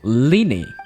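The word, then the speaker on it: Lyney: I think I'll continue to use the name Linny then Lenny oh that's how you pronounce his name you have a limited amount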